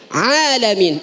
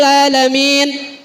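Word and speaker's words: العالمين: Alhamdulillahi Rabbil Alamin. Ini Bu. Yang sering terjadi adalah pengucapan ain. Ini kalau orang kita, orang durenan romana males banget ya bang, ain doang kok. Alhamdulillahi Rabbil Alamin.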